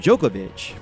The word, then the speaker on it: Djokovic: the D is son but why is the D silent is it only occur in Django's name well no we also see this occur with the name Djokovic from Serbia for the name Joe